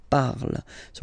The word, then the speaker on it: parles: Phonetically, tu parles. So you've got the two first forms, you pronounce them the same way. You write them differently, of course, because you've got here, and then you've got and s, okay? But then phonetically, they are the same.